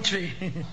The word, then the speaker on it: Twi: name sure yeah man it spelled twi but it pronounced tree i want good language